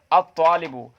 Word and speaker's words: الطالب: الطالبو، الطالبو میں ہم تلفظ نہیں کر پا رہے ہیں. اسی طریقے سے الطالبو میں جو طا ہے یہ حروف شمسیہ میں سے ہے، کیونکہ یہاں پر ہم لام کا تلفظ نہیں کر رہے ہیں.